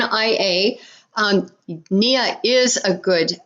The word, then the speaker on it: Nia: start with nia yeah we would pronounce it nia like your knee but we use more than your knee n nia um nia is a